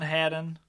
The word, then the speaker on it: Hadden: states is that how do you did you pronounce that britain's last name right britain hayden hadden how many t how many d's yeah there